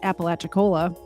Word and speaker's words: Apalachicola: I think it's pronounced Apalachicola.